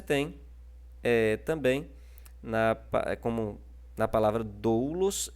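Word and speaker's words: δοῦλος: E você tem também, como na palavra doulos e na palavra pneuma, o acento circunflexo trabalhando, né, como estando na penúltima sílaba. Na penúltima sílaba. Lembrando, ó, que em doulos ele está na penúltima sílaba.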